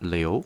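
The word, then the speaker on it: 刘: 중국 4위는 리우 씨입니다. 리우. 우리나라는 유 씨로 보통 하고요.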